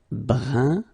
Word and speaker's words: brun: Brun, fin. So you write it differently, but then you pronounce it like the first one.